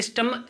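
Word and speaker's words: stomach: इनको देखिए, यानी देखिए इसमें तो स्टमक यानी CH लगा हुआ है, लेकिन इसको हम पढ़ते क्या है, प्रोनाउंसिएशन में इसकी जो ध्वनि निकलती है का की, यानी साउंड आता है का, तो क्या होता है, स्टमक की जगह स्टमक, कांच की जगह कांक पढ़ा जाता है, क्या पढ़ा जाता है, कांक।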